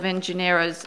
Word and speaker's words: nGenera: Don is chairman of nGenera Insight, for which he directs several of nGenera's, am I pronouncing it right? nGenera. It's little n, big G.